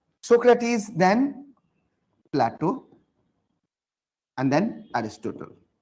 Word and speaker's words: Socrates: Hindi में बोलते Sukrat, right? But in English, we pronounce Socrates.